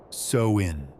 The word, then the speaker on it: Samhain: They called it Samhain, pronounced sow-in.